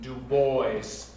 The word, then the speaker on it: Du Bois: Well, I wouldn't wait too long, or else that Du Bois and his kind will be taking the office right next to yours. I believe the man pronounces his name Du Bois.